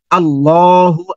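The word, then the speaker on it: الله: আল্লাহ আমাদের সৃষ্টিকর্তা আল্লাহ এই আল্লাহকে দুটা ভাবে উচ্চারণ করতে হয় আল্লাহ শব্দটাকে দুটা ভাবে উচ্চারণ করতে হয় কিন্তু আমরা জানিনা এটা একসময় আল্লাহ শব্দটা মোটা হবে একসময় আল্লাহ শব্দটা পাতলা হবে এখন কখন মোটা হবে আল্লাহ শব্দের আগে যখন যখন জবর অথবা পেশ আসবে তখন মোটা হবে এখন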